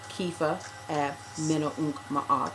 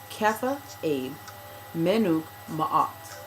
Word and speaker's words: Kefa Abe Menuk Ma'at: And I was corrected by a priest in the Ntrt Society that my name is not pronounced Kefa Ab Menunk Ma'at or. It is actually Kefa Abe Menuk Ma'at.